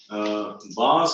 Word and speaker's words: bass: तो उसको इंग्लिश में bass and treble बोलते हैं. So this is more bass या bass क्या बोलते हैं? How it is pronounced as bass? It is bass, bass, and this is high treble.